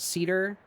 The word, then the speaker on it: Scedar: Uh yeah, they they're called cedar. It's spelled funny just because I thought it was funny. Um so cedar like the tree but with an s in front. The s is silent.